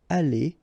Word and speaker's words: allé: The good thing, as usual in French, is you will pronounce it aller, aller, aller, and aller. So technically you don't pronounce the final E, you don't pronounce the final S, and you don't pronounce the final ES. But still, you should write them.